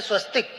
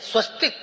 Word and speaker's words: स्वस्तिक: चिन्ह, विजय चिन्ह है स्वस्तिक। स्वस्तिक पर जब हार्मेंट अंसर्ट जैसा साइंटिस्ट रिसर्च करता है तो वो पाता है कि स्वस्तिक में, स्वस्तिक यानी स्वास्तिक भी उसका उच्चारण होता है, उसमें 10 लाख बोबिस स्केल पॉजिटिव एनर्जी है।